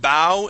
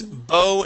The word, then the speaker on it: bow: Instead of bow and arrow, this is bow and arrow.